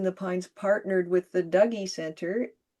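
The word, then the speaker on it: Dougy: that Poets in the Pines partnered with the Douggee Center. Yes, that's how you pronounce it.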